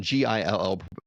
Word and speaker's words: gill: It's actually spelled G I L L, but pronounced a gill.